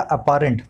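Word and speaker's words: apparent: देखिए अपेरेंट क्या होता है, जाहिर, आप देखने में स्पेलिंग को लगेगा अपेरेंट पर बोलते हैं अपेरेंट, तो ये बहुत जाहिर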